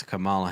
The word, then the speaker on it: Kamala: I mean, everybody hates Kamala Harris.